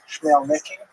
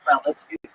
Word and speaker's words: Khmelnytsky: this man, not Khmelnytsky, sometimes horribly mispronounced Chmielnicki, because that's the Polish spelling with an American pronunciation, but the actual pronunciation is Khmelnytsky, led an uprising of Ukrainian peasants against their Polish overlords.